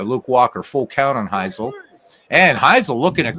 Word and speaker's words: Hisle: Larry Heisel and again thank you for the finally correcting my pronunciation of Larry's name all these years I've been a baseball fan I've been saying it wrong always thought it was hisle all right here we